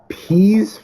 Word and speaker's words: Pease: There's this busted up furniture store called Pease Furniture, spelt with like please but without the L.